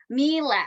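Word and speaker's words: Miele: I think it's I don't want to mispronounce it, but Mila rhymes with Sheila. Mila.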